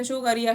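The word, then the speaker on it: Tso Kar: क्रॉच length complex व्यस्त शुक्रिया शो कर न वैसे तो शो कर बोला जाता है टीम साइलेंट होता है सोकर जो वेटलैंड कांप्लेक्स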